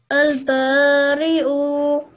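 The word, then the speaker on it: البارئ: Okay, remember we're not going to pronounce the ya. You have to imagine that there's no ya there. We're only pronouncing the hamza.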